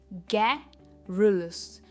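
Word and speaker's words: garrulous: बात करता है, और इसकी प्रोनाउंसिएशन है गैरिलस। जो स्ट्रेस है वो फर्स्ट सिलेबल पे है, गै पे है, गैरिलस।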